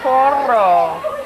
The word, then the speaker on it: Coral: You have to roll your R's. Remember Coral.